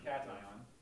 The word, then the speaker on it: cation: But it's pronounced anion and cation.